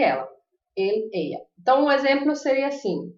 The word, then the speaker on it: ella: Eu vou falar ella ou eixa. Eu pronuncio as duas como I, tanto o Y como o 2 L's.